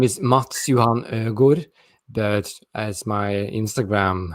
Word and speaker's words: Mads Johan: what i have put their mask on no pronounce it yourself so my full name is matsuhan good but as my instagram handle as you